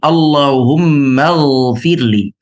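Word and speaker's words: اللهم اغفر لي: Sekarang kalau kita sambung maka kita akan membacanya seperti ini. Allahummagfirli.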